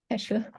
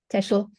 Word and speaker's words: Fischbach: So our speaker, Professor Fischbach, and the last name, how do you pronounce that correctly? Teschel. Teschel. Teschel, okay. It's an L at the end. Okay, Teschel.